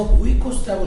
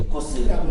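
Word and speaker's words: οἶκος: 근데 사실은 이게 라틴어기 때문에 우리 히라버기 때문에 이 오가 묵음이에요. 그래서 오이코스라고 읽으면 안 되고 이 묵음을 떼버리고 이코스라고 읽어야 되는 거죠.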